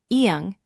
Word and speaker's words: 이응: mandatory consonant slot with the silent circle, iung, which makes no sound in that position.